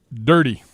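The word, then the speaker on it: Durde: I'm not sure how to pronounce the last name. Do we know on that? Dirty.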